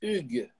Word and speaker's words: Hugues: Mi nombre es francés, es Hugues. Pues ya, Hugo es más fácil, ya me acostumbré en México.